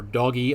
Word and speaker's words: DOGE: expect what percentage of Doge Personnel or do or doggy I would guess would be another way to pronounce that Personnel cuts and